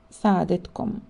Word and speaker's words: سعادتكم: If the person addressed is of much higher rank, the word سعادتك or سعادتكم should be used and pronounced سعادتك سعادتكم.